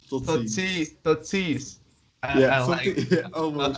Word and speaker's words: Tot ziens: Tot ziens. Tot ziens.